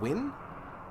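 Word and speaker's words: Nguyen: I apologize that it's it's Vietnamese, not uh and isn't it pronounced win?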